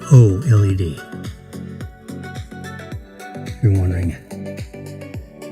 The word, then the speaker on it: OLED: That's LED with an O in front of it. OLED.